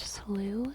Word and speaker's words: slough: Slough is typically pronounced slew in most of the United States. In New England, you may hear it pronounced in a way that rhymes with cow.